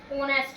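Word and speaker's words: honest: और दूसरा क्या है ऑनेस्ट मैन क्या है ऑनेस्ट मैन एच क्या है इसमें साइलेंट साइलेंट और ये क्या है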